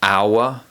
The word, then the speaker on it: hour: In addition to this, some words of French origin have a silent letter H at the beginning, such as hour, honest, and honor.